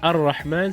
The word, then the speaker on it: الرحمن: So Ar-Rahman, so we introduce the definite article, the lam disappears behind it.